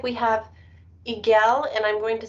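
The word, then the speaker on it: Eigel: looks like we have igel and i'm going to spell it because i'm not sure if i'm saying that correctly e-i-g-e-l it's igol can you hear me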